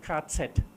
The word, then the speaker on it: KZ: The German abbreviation for concentration camp is this. We pronounce it KZ.